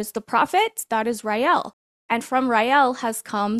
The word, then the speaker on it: Raël: class we're going to learn how to pronounce two words today right Riel go ahead and say it with me after your Red Bull Riel Riel Riel okay that